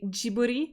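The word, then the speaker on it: Ghibli: a lot of I would like to say jiburi because I Googled how to say it but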